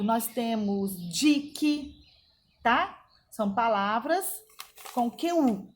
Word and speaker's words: dique: QU não é pronunciado. Nós temos dique, tá?